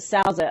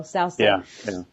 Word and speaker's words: Souza: I think they pronounce it Souza over there in Mexico, Souza.